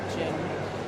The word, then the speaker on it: Jin: It was always been Jean pronounced like Jin.